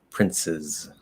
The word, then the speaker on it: princes: doesn't really matter but the s is going to be a z right so princes princes princes princes um the second